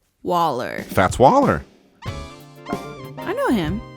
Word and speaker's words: Waller: Oh, I meant to say it rhymes with baller, collar, dollar, and holler. Waller.